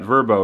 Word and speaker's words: VRBO: say it's very nice VRBO I think they pronounce that verbo right babe that's how we